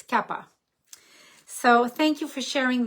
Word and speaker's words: Kapha: manage the Cappadocia now a lot of people pronounce it in English Cafe Dosa but actually in Sanskrit it's Kappa so thank you for